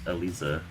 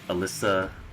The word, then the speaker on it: Eliza: can't either uh yonver in japanese like her name is pronounced elisa so that's that's kind